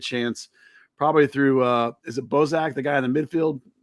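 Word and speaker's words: Gazdag: And then I think Philly will have a very good chance probably through, is it Bozak, the guy in the midfield? How you pronounce his name? Gazak. Yeah. Gazak.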